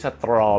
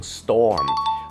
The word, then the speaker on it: storm: there is a Strom ออก เสียง ผิด นะ ครับ ไม่ ใช่ Strom นะ ฮะ มัน ออก เสียง Storm วิธี การ จำ ง่าย